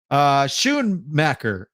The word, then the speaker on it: Schoonmaker: Schoonmaker. Okay, I'm gonna put that into my lexicon. Schoonmaker.